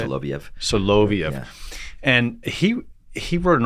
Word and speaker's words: Soloviev: Soloviev.